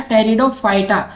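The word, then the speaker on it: Pteridophyta: Fern belong to which division of plant, तो fern है साथी वो टेरिडोफाइटा में आते हैं, ठीक है, इसमें पी साइलेंट रहता है, टेरिडोफाइटा।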